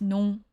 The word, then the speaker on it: non: Yeah, in French it's fun because the non is a nasal sound. There's actually an N on the end of that. The O and the N make that nasal sound where it sounds like